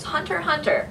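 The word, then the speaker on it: Hunter × Hunter: I started watching it Hunter Hunter but if you spell it out it's Hunter x Hunter adorable it follows the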